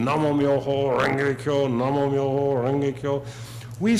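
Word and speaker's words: Namu Myōhō Renge Kyō: Nam Myoho, and the one group out of the 37, there was the one that pronounces it Namyo instead of Namo Myo. But in the same way, they'll sit for hours, Nam Myoho Renge Kyo, Nam Myoho Renge Kyo,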